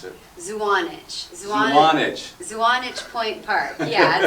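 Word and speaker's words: Zuanich: Now the event, the Budfest took place at, how do you pronounce it? Zwanich.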